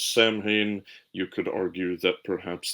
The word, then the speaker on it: Samhain: Particularly, they had an autumn festival called Samhain. You'll hear a lot of people mispronounce that as Samhain.